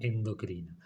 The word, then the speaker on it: endocrina: sensibles es decir que esta palabra debería sonar exocrina y esta palabra endocrina porque no lleva acento escrito ninguna de las dos